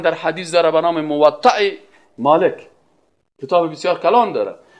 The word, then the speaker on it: موطأ: بعضیا موطا میگن و چی میگن و غلط است. موطأ همین قسم تلفظ درستش.